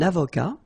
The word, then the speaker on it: avocat: Un avocat, so remember, liaison here, and then final T not pronounced, okay? Un avocat.